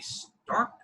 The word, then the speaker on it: Starke: brian m davis joining me today is anthony stark that is that's how you pronounce the name right yes all right because